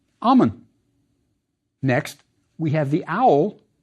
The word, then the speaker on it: Amon: worry about honorific placement the first part of the king's name was pronounced Ammon next we have the